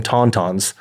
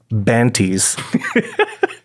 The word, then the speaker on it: tauntauns: One of my favorite things that he said was regarding tauntauns, he referred to them as banties. He's like, oh, remember when Luke cuts open the banty?